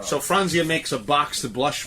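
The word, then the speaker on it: Franzia: fania frania fr fronia it's only three syllables bro so frania makes a box to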